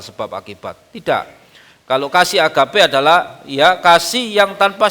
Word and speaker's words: agape: Kasih agap itu dalam bahasa aslinya ditulis kata Yunaninya agape. Itu bacanya juga agape.